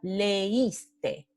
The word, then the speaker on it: leíste: vocales en sílabas diferentes, como en esta palabra leíste. Entonces, sílabas diferentes. Le, is, te.